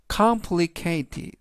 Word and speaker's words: complicated: 뜻이 되겠습니다 이번 단어는 complicated complicated complicated라고 발음하시면 되겠고요 이때 강세는 맨 앞에 있는의 강세가 있습니다 그래서 complicated라고 발음하시면 좋겠고요